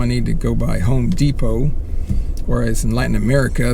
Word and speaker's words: Home Depot: Here, D-E-P-O-T, the T is silent in English, so it's Home Depot, and get some little